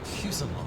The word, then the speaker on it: fuselage: It is a long A, then.